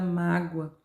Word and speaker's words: mágoa: Então, eu tenho na letra A, eu tenho a palavra destacada mágoa. A sílaba tônica é o má.